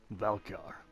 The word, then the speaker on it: Valkyr: Today's topic, Valkyr. I believe that's how it's properly pronounced.